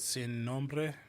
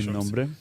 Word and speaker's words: Sin Nombre: Sin Nombre. I want to Sin Nombre? make sure I'm saying it right. I had to roll that R.